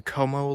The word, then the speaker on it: Como: right we've made it the KO Lake I think that's how you pronounce it C O M O Lake and we are at